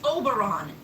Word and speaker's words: Oberon: fairy King and I keep telling you it's pronounced Oberon you know like always so